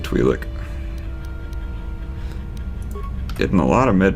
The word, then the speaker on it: Twi'lek: in a Twi'lek camp how to pronounce that word and I'll say it's Y like I've always said twee lick getting a lot of